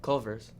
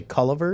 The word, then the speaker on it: Culver's: is it colors what how do you say it say it Culver's I apparently say Culliver x' Culliver solvers solvers